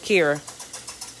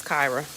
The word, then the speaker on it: Kyra: Kyra, is it Kyra or is it Kira? My sister's name is spelled the exact same way, but it's Kyra.